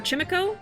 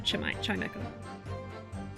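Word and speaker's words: Chimecho: Or Chimico? I think we said, like, Chimico or something like that. But yeah, it's like a chime echoing, so Chimeco.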